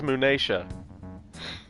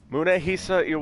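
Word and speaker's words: Munehisa: money so you really i've been pronouncing his family name wrong this whole time this whole time i thought it was moonaisha munehi yes there's some matters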